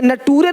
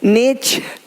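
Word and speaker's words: nature: यदि किसी शब्द के अंत में एस के आगे टी आई ओ एन हो तो टी के आगे यू आर ई आए तो टी का उच्चारण चा होता है।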